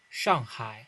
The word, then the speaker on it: Shanghai: Oh yeah, by the way, Gen.G won Masters Shanghai, not Shanghai, bro. Why do I keep pronouncing like a foreigner? Shanghai.